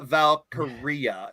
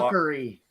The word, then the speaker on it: Valkyria: Another trademark that was required by WWE is to Lyra Valkyria, if I'm pronouncing it right. Now, a lot of people Valkyrie. No, it's Aria at the end, like diarrhea, like your breath.